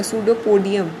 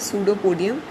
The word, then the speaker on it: pseudopodia: इसको ना P silent है इसमें, okay, P is silent, so you will think that P इज not there but you have to right P, सूडोपोडिया, सूडोपोडिया, ठीक है।